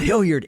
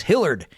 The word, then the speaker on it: Hillard: when he would say my name's not Hillyard it's Hillard I would always put